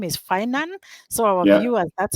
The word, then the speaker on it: Finan: happy that you reminded us the name is finan so our viewers that's how the name is pronounced so what services do they offer there yeah it was funny you say uh most people call it finnin and I had a tagline for many years